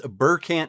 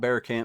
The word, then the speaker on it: Burant: teleport right over there I guess it's burant Manor not beant Manor but yeah so don't